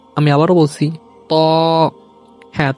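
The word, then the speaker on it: ط: আমি আবারও বলছি ত। হ্যাঁ, ত উচ্চারণ করতে অনেকে ভুল করে থাকে, যেটা অনেক আগে মক্তবে শেখানো হতো তই, এটা ভুল উচ্চারণ। মূল উচ্চারণ হবে ত।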